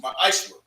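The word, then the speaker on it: מעשר: It means 10th in Hebrew and is pronounced ma'ashra.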